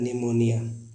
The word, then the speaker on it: pneumonia: जब कभी N और S के पहले P आए तो P को साइलेंट पढ़ते हैं।